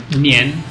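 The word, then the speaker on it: 年: Ang year naman, the word to say year is nian. Yen. So, 1 year, 2 years, 3 years, 4 years, nian.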